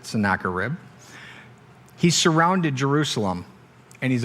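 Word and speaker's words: Sennacherib: name of uh sarib I actually look that up that's how to pronounce it sakar rib he surrounded Jerusalem and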